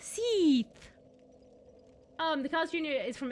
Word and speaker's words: Seath: you're pronouncing stuff, but it's really not pronounced like Seth, like the normal man name. It's like Seath, with the E sound. Seath!